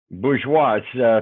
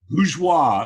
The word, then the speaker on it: Bourgeois: because I screwed up because it's French Bush watch pronounced just like it's spelled lose wha okay that's a very